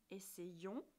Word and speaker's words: essayons: Avec une terminaison après le son E, on entend le son ie. Essayons, essayez.